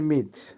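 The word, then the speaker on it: мыть: ধোয়া বা ওয়াশ করা আবারো বলছি উচ্চারণ হবে মিচ মিচ এর বাংলা হবে ওয়াশ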